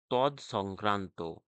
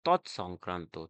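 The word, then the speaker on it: তৎসংক্রান্ত: এই তদ উচ্চারণ ভুল হলেই তোমাদের বানান ভুল অবশ্যই হবে। এটি তদ সংক্রান্ত নয় বরং সঠিক বানানটি হলো তৎ সংক্রান্ত ত খন্ডতর দন্তস অনুস্কার কয়রাফল আকার দন্তন তৎ সংক্রান্ত দেখো তদানুসারে তদানুসারে বানানটি তদা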